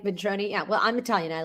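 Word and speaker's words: Ventrone: How do you say is he Italian? Yeah, I think it's Vroni. That's how I heard um uh McVey say it. So, I'm that's what I'm going to go with.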